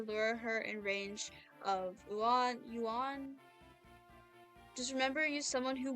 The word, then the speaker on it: Ewan: Ewan. No, it's yuan. Yuan. Yuan. I don't know. The Japanese pronunciation is yuan.